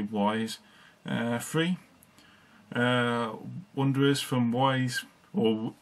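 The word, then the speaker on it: Ys: I think it's pronounced Ease, but a lot of people say Wise.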